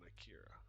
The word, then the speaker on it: Akira: Alternatively, you can just right click on Akira. Yeah, Ankira. I said it right the first time.